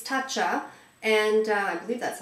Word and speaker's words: Tatcha: It's Tatcha. And uh I believe that's how you pronounce it.